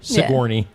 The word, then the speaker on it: Sigourney: Sigourney. Sigourney. Yeah, that's what it looks like. But yeah, we're here in Sigourney, Iowa.